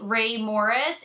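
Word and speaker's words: Rae Morris: Now, when you're looking at the Ray Morris, it is spelled R-A-E Morris, and it's always listed in my brushes used in my description bar down below.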